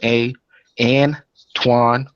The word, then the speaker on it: Antoine: Hotep family, this is Antoine, pronounced A, and Twan.